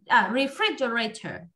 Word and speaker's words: refrigerator: đúng không nhỉ freitas refrigerators refrigerator trọng âm rơi vào âm tiết thứ hai nha Thank you một từ